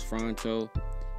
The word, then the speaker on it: Phonto: So the app that I use is Phronto. It's spelled Phonto.